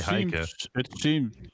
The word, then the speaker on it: Heike: As a Dutchman, I would say Heike. It's Heike, yeah.